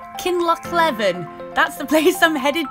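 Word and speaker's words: Kinlochleven: google on tinternet and i think you pronounce it kinloch levin that's the place i'm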